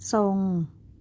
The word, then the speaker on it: ทรง: กล้ํา ไม่ แท้ ที่ ออก เสียง พยัญชนะ ทร เป็น เสียง ซอ เด็ก ๆ มา อ่าน